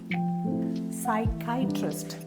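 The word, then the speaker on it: psychiatrist: ആർ ഐ എസ്ടി സൈക്കൈട്രിസ്റ്റ് സൈക്കൈട്രസ്റ്റ് second syllable ആണ് stress ചെയ്യുക എട്രസ്റ്റ് ഐട്രസ്റ്റ് അതങ്ങനെ ആദ്യം പറഞ്ഞ ഐട്രസ്റ്റ് സൈക്കാട്രസ്സ് കൂട്ടി വായിക്കും സൈക്കട്രസ്സ് മലയാളം ഞാൻ ഇവിടെ എഴുതിയിട്ടുണ്ട് സെക്കൻഡ് സിലബിൾ ആണ് സ്ട്രസ്സ് ചെയ്യേണ്ടത് നെക്സ്റ്റ് വേഡ് ഇഎഇസി യുടിഐവിഇ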